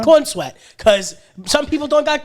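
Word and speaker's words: Corenswet: The correct way to pronounce his name? There you go. Corn Sweat.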